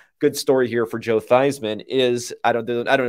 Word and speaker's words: Theismann: the story is that theismann's name before that was pronounced thiesman but he changed it to joe theismann to rhyme with heisman and then he didn't